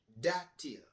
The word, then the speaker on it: dátil: Datíl. Dátiles. Dátiles. Or if it's just one, it's datíl. Datíl. Datíl. D-A with an accent right there. T-I-L. Datíl.